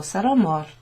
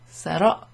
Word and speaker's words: sarò: Sarò, avrò. You've got this accent that goes over the O and the O. And that sort of clips it down to a really short pronunciation.